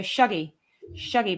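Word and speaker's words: Shuggie: I'm from near Glasgow, and Shuggy is actually pronounced with an as in mug, not an oo as in shoe. So Shuggy Bane.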